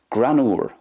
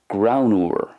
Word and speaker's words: greannmhar: Next, Granúr, which is the Irish for funny, Granúr. I'm saying it the Munster way. In Connacht, it's more Graunúr, Graunúr. And in Ulster, Grannar, Grannar.